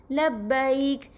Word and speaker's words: لبیک: اسے عام طور پہ اردو اگر لہجے میں پڑھا جائے تو کس طرح پڑھتے ہیں؟ لبیک یا لبیک. یہ عربی میں اس طرح نہیں پڑھا جاتا. عربی میں کس طرح پڑھا جائے گا؟ یعنی با پر زبر ہے، اس کے آگے یا پر جزم ہے تو اسے پڑھا جائے گا لبیک.